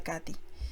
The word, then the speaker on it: Kate: como la que me contó mi tía Kate, pronunciada Katy, que vivía en Sibrac, cerca de Dombovar, en Hungría.